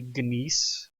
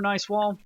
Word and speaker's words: gneiss: I mean, it could be Nice, could be Gneiss, Gneiss. Which one was it? That one. So if it's German, it would be a long I sound, because the I is last.